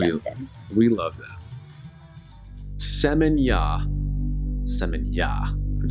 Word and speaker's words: Seminyak: Seminyak. I'm saying that right, aren't I? I think so. The K is silent, like night with a K.